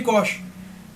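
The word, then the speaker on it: Cuxe: Cosh, deve se pronunciar dessa forma. Filho de Cosh.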